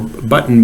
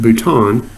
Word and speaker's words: bouton: or or I've heard it said the terminal button but it's actually comes from from fringe so it's pronounced bouton but at both ends of the cell there